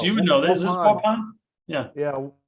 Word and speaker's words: Waupun: How do you pronounce that? Oh man, I'm a terrible Wisconsin. Vince, you would know this. Is Waupun. Yeah. Yeah, Waupun. Waupun.